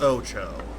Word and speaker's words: OTXO: can do later take a wild guess as to what this game title says I guarantee do you pronounced it wrong the game is called Ocho Ocho is a top-down